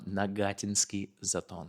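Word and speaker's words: Нагатинский Затон: Nagatinsky Zaton, that's how you say it.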